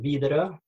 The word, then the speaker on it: Widerøe: don't pronounce it correctly how it should be pronounce withraw um withraw we say Norwegian VRA but withraw is perfectly fine okay we'll we'll try you